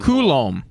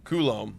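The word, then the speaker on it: Coulombe: I said Colbe and everyone's like lol pronunciation. How the hell do you say it? Say it. Uh um Koulom Koulom.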